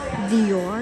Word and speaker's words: Dior: Dior ang pagka-pronounce.